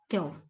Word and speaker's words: keu: But one thing here is that the first person singular, k, when it occurs with the plural suffixes u, the vowel e is deleted, and then it is pronounced as keu, keute, or keuho.